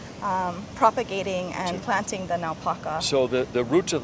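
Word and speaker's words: naupaka: here and how do you say it again napaka napaka and the root systems actually hold the soil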